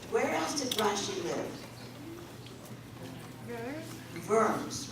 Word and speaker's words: Worms: else did russia live worms right it's spelled like worms but we pronounce it in german the w is a v so my mother grew